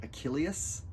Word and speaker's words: Achilleus: Um Achilles is sort of an Anglicization of his name. In the original Greek, his name is probably more like Achilleus. There's kind of an extra syllable in there.